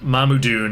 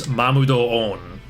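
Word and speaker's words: Mamudoon: This means the correct way to say it is not Mamudun, it's Mamudo-on.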